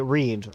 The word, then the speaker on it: Reed: it's a lot easier I just say read like a book and then I do